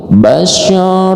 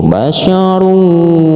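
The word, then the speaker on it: بشرا: Basyar wam. Nah, seperti itu. Basyaru enggak boleh. Basyarun enggak boleh. Tapi basyar.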